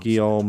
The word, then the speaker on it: Guillaume: If it doesn't rhyme, you're not pronouncing Guillaume it le right.